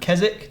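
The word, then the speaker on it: Keswick: in the summer at kzk do you know kzk in the Lake District there's a convention there yeah rings a bell it's spelled KZ Wick yeah so don't let that throw you off okay it would cuz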